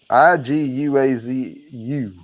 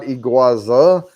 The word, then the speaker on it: Iguazu: by the way uh it's Iguazu not iguaza but you have to